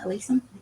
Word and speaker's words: alyssum: On the bottom we have alyssum, or is that how you pronounce it? Alyssum?